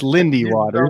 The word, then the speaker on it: Lindy Waters: I thought there was a L in there. It's just Lindy Waters.